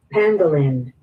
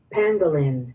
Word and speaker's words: pangolin: Pangolin. Pang. P A N G is how it pangin. Panggalan. Pangolin. Pengolin. One more time. Make sure we all got it. Pangolin.